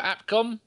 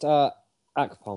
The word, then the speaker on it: Akpom: Chupa Chupa Apcom. Choo-choo. Gimli's on you. Wrong one. He's asleep. Gimli. But I do believe it's pronounced Akpom.